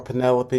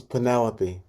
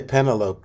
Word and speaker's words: Penelope: to pronounce it what what do people say the wrong thing they don't say pentalope do they they say they do